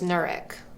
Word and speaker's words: Knurick: Also, I'm not sure if I've ever said this on this platform before, but my last name is Knurick. The K is silent, like knife or knock knock.